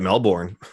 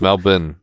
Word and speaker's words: Melbourne: I just say it Melbourne well it's mal Ben it's so everything I pronounced with that I can die in sound not a you know born yes that's the American Way to say it right there exactly